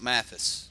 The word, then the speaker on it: Mathis: I'm going to give one piece of advice for this deck, but Cameron Mathis, he's like, no, that's Mathis. This is how you say Mathis, right?